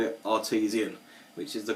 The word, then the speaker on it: Artesian: of their beers and he also called it artisian which is the correct pronunciation it's not Artisan it's artisian plain cap quite interesting one as